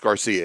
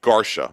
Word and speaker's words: Garcia: Although we did have a challenger in GT1 today, but Garcia, and actually he said it's not pronounced Garcia, it's pronounced Garcia.